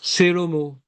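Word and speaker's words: שלמה: Et Shva Nad, c'est quand on dit par exemple Shelomo. Puisque c'est en début de mot, on ne dit pas Shlomo, nous les juifs.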